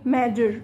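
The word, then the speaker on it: measure: ده ما فيهاش حرف الجي خالص، قالك الاس يو هنا هتديك حرف الجي، تمام، فاسمها ايه؟ ماجر، ماجر، ماجر، ام اي اي اس يو ار اي، تمام.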